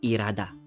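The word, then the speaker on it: 일하다: Ilhada. Ilhada. Ilhada. Pero, maririnig mo pag sasabihin dito yan, ire. Or irada. Irada. Irada. Okay? Almost hindi napapronounce yung hiyot natin. Or yung H sound.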